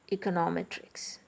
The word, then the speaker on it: econometrics: And econometrics. Okay. Here also the last but one syllabus is stressed.